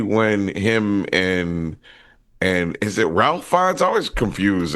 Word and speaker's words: Ralph: him and is it Ralph Fiennes? I always confused. It's Rafe Fiennes. Rafe.